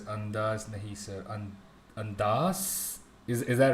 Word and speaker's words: Andhass: Joseph says Andhass, Nahi sir. Andhass? Is that right? Andhass? Am I saying it right now? Excuse me Andhass. for my Andhass. It's A. He says ANDHASSSSS.